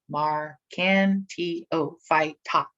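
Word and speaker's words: Marchantiophyta: never seen before right so the phylum marcantio phyta mar can t oh fight right arcantio phyta liverworts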